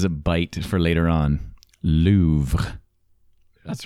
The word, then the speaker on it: Louvre: You sort of pronounce the R, but it's very faint at the end. So there's like a it's Louvre.